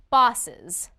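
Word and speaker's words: boss's: When you say it, there should be an extra syllable. Try it. Boss, bosses. Again, bosses. Did you say the extra syllable?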